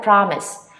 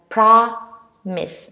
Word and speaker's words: promise: nut and you have promise mostly people say promise or whatever but no you stress on the first syllable you have promise and you have promise